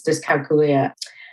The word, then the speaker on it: dyscalculia: The right pronunciation is dyscalculia.